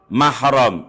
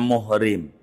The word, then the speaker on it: mahram: mahram ini yang suka kebalik. Orang kampung nyebutnya muhrim, bukan muhrimnya. Ini gara-gara bahasa Arab enggak ada barisannya. Mim ha ro mim dia baca muhrim.